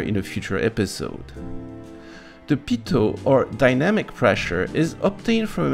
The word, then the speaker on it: Pitot: It is called the pitot tube after its inventor, Henri Pitot, or pitot, I guess, if you try to pronounce it in English. But since it's one of the very few words I can pronounce correctly, I keep calling it pitot.